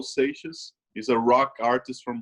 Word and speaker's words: Seixas: How do you spell that? It's Raul. Oh, Raul. Yep. Raul, R-A-U-L. Yep. Seixas is S-E-I-X-A-S.